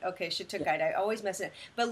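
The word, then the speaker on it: shattuckite: Okay, how do we pronounce it? Is it shadakite or shiukite? Shhatukite. Okay. Shitukite.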